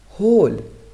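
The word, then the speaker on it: whole: हु से शुरू होने वाले वर्ड्स में डब्ल्यू का उच्चारण नहीं होता, जैसे हु कौन, यहाँ पर हम डब्ल्यू का उच्चारण नहीं कर रहे। होल मीन्स संपूर्ण, यहाँ भी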